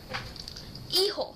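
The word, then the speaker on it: hijo: know sun would be ho remember that in spanish the h does not have a sound it's always silent except for words like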